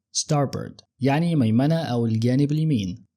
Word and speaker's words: starboard: لمقدمه السفينه او الطياره ولو ملاحظ نطعناها ستارب ستارب وما بنطولش في الجزء الثاني من الكلمه ما بنقولش بورد زي ما ليلي قالتها ده نطق بريطاني الامريكان بيقولوا ستاربورد ستاربرد يعني ميمنه او الجانب اليمين طيب عكسها ايه بقى؟